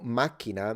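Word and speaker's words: macchina: after all and um it's interesting that in Italian it's Mak so you see there is a strong K with a jump a little glottal stop minina but in Sicilian it's just single K symbol single C Sound and it's minina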